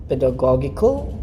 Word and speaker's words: pedagogical: too adjective is it pedagogical or it sounds right but anyway the right one is actually the pedagogical pedagogical all right so the first g is hard the second g is a little softer just like the way